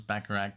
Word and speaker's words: Bacharach: And it's so funny because I had to look it up how to pronounce Bacharach because it's Bach, like Bach, like Johann Sebastian Bach.